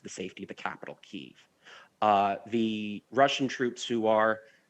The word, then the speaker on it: Kyiv: And I want to ask you, you were actually in Kyiv, and I'm saying that correctly. We like to say Kiev here, but that's the Russian pronunciation.